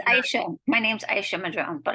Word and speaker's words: Aisha: Aisha, like Aisha baby.